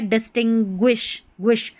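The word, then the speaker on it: distinguish: ये है डिस्टिंग्विश्व डिस टिंग ग्विश। ये जो स्पेलिंग है इसको तीन पार्ट्स में डिवाइड करना है। पहले पढ़ना है डिस फिर पढ़ना है टी आई एन टिन और फिर ग्विश ग्विश।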